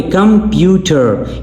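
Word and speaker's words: computer: तो यहां पे कंप्यूटर यहां पे सेकंड सिलेबल स्ट्रेस सिलेबल है। ठीक है? आपने जोर पीयू पर देना है।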